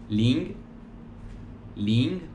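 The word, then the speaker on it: 零: del 0 al 9 el 0 se pronuncia link link el 1 se pronuncia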